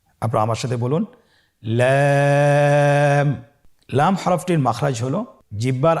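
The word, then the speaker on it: لام: লাম হরফটি উচ্চারণের ক্ষেত্রে অবশ্যই বারিক হবে এবং 3 আলিফ টেনে পড়তে হবে। আপনারা আমার সাথে বলুন লাম।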